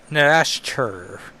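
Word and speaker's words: Nastirh: From the pages of X Factor, Exterminators, now begins Inferno, introducing the menace of Narashter. With a silent H, I think is how I'm pronouncing it.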